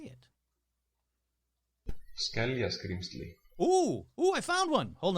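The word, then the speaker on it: Skeljaskrímsli: Yeah, it's like, yeah, I don't know what you're trying to say, but it's not Skellijaskrimsli.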